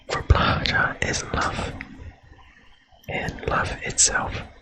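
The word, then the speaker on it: Blåhaj: Live, love, Blahaj. Ah, that's how you say it. Okay, Blahaj. I was pronouncing it so silly.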